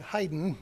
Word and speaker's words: Haydn: London Paris and clock Haydn will take it hidin that believes the pronunciation and next his nine